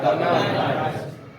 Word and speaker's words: carbonyl: लेकिन ज्यादातर इसको क्या प्रोनाउंस किया जाता है, कार्बोनाइल।